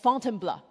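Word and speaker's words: Fontainebleau: So after Paris, Paul took me just outside the city to a forest park for called Fontenbl. This is how he taught me to pronounce to try out our mountain filter.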